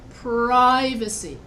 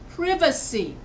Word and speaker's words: privacy: is used in pronunciation so if I want to say um privacy so here I'm stressing the first syllable privacy now in Britain they don't say it like that they say privacy they stress VA instead of pry that's what I'm talking